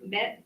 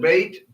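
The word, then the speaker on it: ב: What's this letter? Bet. Debate. Right. This is debate. Huh? You might call it bait. Bet.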